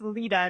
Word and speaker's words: Leta: of introducing myself because my name's pronounced Leta, not Leta. And I have to correct it because if I don't, everyone in the industry will start calling me Leta.